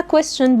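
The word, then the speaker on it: question: كويس ورد وخلي بالك اسمها كويسشن بالاس بتتنطق عشان الناس تقوللي كويشن على طول لا كويسشن بنطقها بالاس تمام الكويستشن وورد اللي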